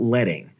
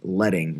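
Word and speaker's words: leading: lines of text that is what we call letting spelled like lead but pronounced letting refers to printing presses and what they would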